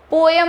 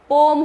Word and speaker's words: poem: हाउ is Radha referred in द पोम, Radha को पोम में, first thing पोएम नहीं होता है, पोम होता है। The correct pronunciation is पोम, POEM, पोम।